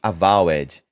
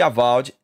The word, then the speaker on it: Avowed: falar o jeito certo eu sempre falei avowed mas eu como eu falei eu vi um vídeo gringo onde eles estavam falando a pronúncia correta e é avd a vald mas vamos ver aqui no Twitter ó eu postei isso aqui acho que foi hoje ontem não sei eu acho que aald tá muito longe daquele primeiro